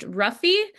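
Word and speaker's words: -rrhaphy: is a little bit tougher to pronounce it's pronounced ruffy uh it means sutures so like mayori would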